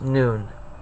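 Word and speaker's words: Nun: It's pronounced noon.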